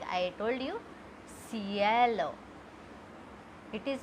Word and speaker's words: cielo: When C comes with E, which is I in English, it becomes S. You have to pronounce it S. Like I told you, cielo.